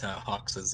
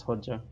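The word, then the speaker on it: Hoxha: I wonder what Hoxa's ability is. Name is Hodja. Bunkers. Also, it's Hodja. No, it's Hoxa. What would have his? It's Hodja. Fuck off. It's literally pronounced as Hodja.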